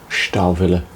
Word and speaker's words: Stahlwille: If I need a higher quality tool, I do have a small socket set of Stahlwille, if you want to pronounce it as the Germans do, which is a very high quality steel.